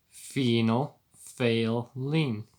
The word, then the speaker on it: phenolphthalein: chemical formula thing phenolphthalein pronounced phenol like a female penile like phenol failing like it you just failed to test except i'm failing my school and then fail lean which is phenol fail lean colorless when reality looks